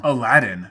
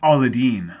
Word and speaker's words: Aladdin: aladdin is also featured in the disney film aladdin which released in 1992 the year prior to